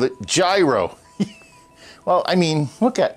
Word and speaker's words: gyro: and get a hero I want a gyro it's pronounced yo oh that's how it's pronounced the New Yorker can't